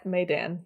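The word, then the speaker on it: Maidan: that was funny okay it's spelled maiden but i think it's no it's made maydan maydan maydan yeah made dan sure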